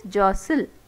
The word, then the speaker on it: jostle: Next is jostle. T is silent.